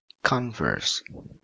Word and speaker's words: converse: discount discount okay ah this one two syllables con and verse is it verb or noun yeah very good noun converse converse okay that's the part